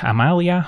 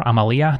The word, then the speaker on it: Amalia: Today we're taking a look at a black-white lifegain deck featuring Amalia, or Amalia, depending on how you want to pronounce it, as our commander, voted on by my supporters on Patreon.